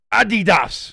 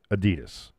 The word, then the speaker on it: Adidas: That would be, of course, the 3 stripes of Adidas, as the Europeans like to say, but we say it correctly, Adidas.